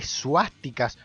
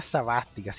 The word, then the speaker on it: suástica: menos a más ticas un tipo que conocí en mi actual y horrible trabajo el call center pronunciaba sabas ticas cristian que no quillo eres poeta porque decía sabas ticas es suástica o enfática bueno el juego